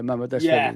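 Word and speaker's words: Mamardashvili: Mama Deshveli. Yeah, Mama Deshveli.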